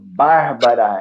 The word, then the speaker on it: Bárbara: Bárbara já é 3 As, um acento que eleva a primeira sílaba, Bárbara, e depois.